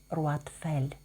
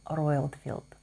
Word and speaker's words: Roitfeld: так як Карін француженка то її саму Я називаю так як вона і зветься з народження Карін руатфель а бренд зареєстрований в Сполучених Штатах Америки принаймні так говорить фрагрантика тому назву бренду я вимовляю англійською Карін roроyлfield бренд розпочав свою роботу